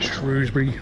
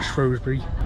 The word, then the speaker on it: Shrewsbury: that Shrewsbury or Shrewsbury kind of 50 50 how you pronounce it Jay officer thought I'd